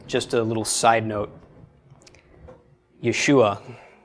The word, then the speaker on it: Yeshua: Also, just a little side note, Yeshua, that name ends in an ayin. So there's actually a subtle sound at the end of the name. So it's Yeshua, except I'm belaboring it a little bit.